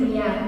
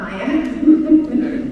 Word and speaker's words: Mia: I I just say my name is Mia not Maya oh Mia Zoe um